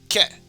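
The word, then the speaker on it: け: This is ke, which we of course pronounce it as ke.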